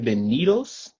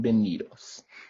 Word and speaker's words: bienvenidos: words like bien benitos the b and the v are very similar in in the tongue so to speak they're very similar when you're trying to pronounce them because they both make the ba so that's